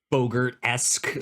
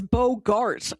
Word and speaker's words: Bogart: I've never heard anybody pronounce his name in a way that rhymes with yogurt. Really? Is that not how you say his name? It's it's it's a hard a. It's bogart.